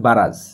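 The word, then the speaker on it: barrage: heavy বারাজ of Rockets এর উচ্চারণ হবে বারাজ তো হেভি বারাজ অফ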